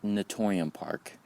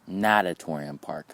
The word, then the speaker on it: Natatorium Park: name of the park it's not natorium park it's natatorium park okay that was my